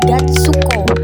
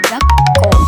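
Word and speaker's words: がっこう: Nah, maka dibacanya bukan gatsuko, melainkan gak ko. Karena fungsi huruf su di sini untuk menekan huruf depannya ya, Minasang.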